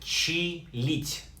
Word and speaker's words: чилить: Word number 8, чилить, pronounced like чилить, borrowed directly from an English verb to chill.